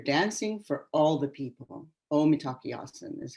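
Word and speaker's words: Mitákuye Oyás'iŋ: Omitakiasan is how they say it in Sioux.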